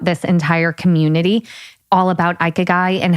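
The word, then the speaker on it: ikigai: say this japanese philosophy called we're going with ikeguy because that's what you know the google said so basically this is the mindset of people that live to 100.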